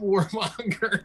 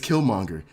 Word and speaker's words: Killmonger: our show right now and you called him warmonger dog i'll be like i had i had to i had to like to kind of chill real quick and to be like okay it's killmonger okay implement like implant